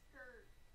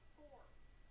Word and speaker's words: Scourge: It's Scourge. Scourge. Okay, I will say I will get stuff wrong in pronunciation. But I'm sorry ahead of very time. simple word. Scourge? I said Scourge. You said score.